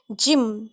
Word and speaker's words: gym: So when Y comes immediately after G, it is most often read as J. For example, biology, gym, GYM, gym, energy, ENERGY.